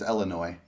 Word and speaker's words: Illinois: one's the correct way i know the s is kind of like weird in there but yeah you know it's very silent with illinois okay so no s